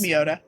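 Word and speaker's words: Mioda: Sometimes I do, but then I confuse myself if it's me or my Yeah, it's Miota.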